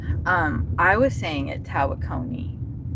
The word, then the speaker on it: Tawakoni: Tawakone. That's how you say it. Tawakoni is how you say it.